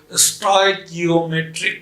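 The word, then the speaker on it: stoichiometric: स्टोइकियोमेट्रिक, इसको ऐसे भी हम लोग पढ़ते हैं एस, ऐसे अगर उच्चारण करने में दिक्कत हो, टॉय की, उसके बाद ओम ए ट्रिक, ऐसे उच्चारण कीजिए, एस टॉय की ओम ए ट्रिक, स्टोइकियोमेट्रिक।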